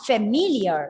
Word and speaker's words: familiar: We are not familiar. See, look at the word familiar. The second syllable is stressed.